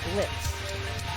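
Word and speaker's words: Blitzø: It's run by Blitz. And you say it that way because the O is silent.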